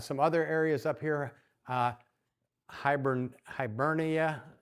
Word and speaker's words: Hibernia: Hibernia, all right, I think is the way it's pronounced, which is modern day Ireland.